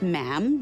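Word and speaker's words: ma'am: majesty and after that is just mam rhymes with jam and it's always a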